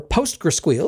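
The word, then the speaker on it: PostgreSQL: charge yourself to death it's compatible with postgress SQL or postr squeal as I insist on pronouncing it so you can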